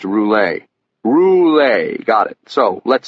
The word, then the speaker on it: Roulet: Okay, so we're here to talk about Louisis Roulette, aren't we? It's pronounced Roule.